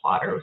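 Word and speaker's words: Plottr: notes but it's um spelled like plotter without the e before the r at the end so p-l-o-t-t-r and I'm a very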